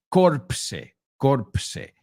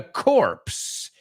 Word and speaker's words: corpse: Y ese se escribe corpse. So in that case, yes, the P and the S are pronounced, right? So they found the guy in the Marine Corps found a corpse with the core missing,